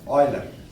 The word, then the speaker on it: Euler: তিনি হচ্ছেন Leonard অয়লার। কি নাম? Leonard অয়লার। অদ্ভুত তার মানে বানানটা EULER, লিওনার্ড অয়লার।